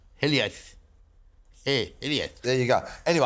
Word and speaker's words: hiliaeth: I'm not sure how to pronounce it. It's H-I-L-I-A-E-T-H. Hiliaeth.